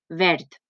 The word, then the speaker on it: verd: Fixeu-vos, verd. Pareix que ho diga amb una T, però en realitat s'escriu amb una D.